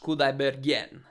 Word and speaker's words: Kudaibergen: Dimash Kudaibergen. Dimash Kudaibergen. Okay, I think it's like a yen at the end.